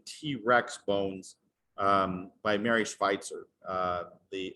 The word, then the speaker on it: Schweitzer: bones um by mary schweitzer the spicer is like the american pronunciation of her name she is the first